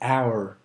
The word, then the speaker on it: hour: Just like the English word hour, you don't pronounce the letter H. It's hour.